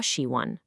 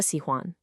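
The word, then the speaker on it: 喜欢: dips, I'll hear 我喜欢. Second, letting the tone of huan drift down. They'll say 喜欢 with a falling tone, instead of the correct high, flat 喜欢.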